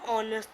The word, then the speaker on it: honest: An honest man, honest. In this, the H is silent.